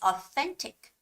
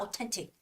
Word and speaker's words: authentic: yeah that's the pla that's the exact location where you should make that th sound it's authentic authentic right it's not authentic or authentic it's authentic